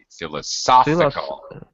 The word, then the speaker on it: philosophical: philosophical by the way philosophical philosophical yeah it has the the uh the stress the primary stress is in this middle uh syllable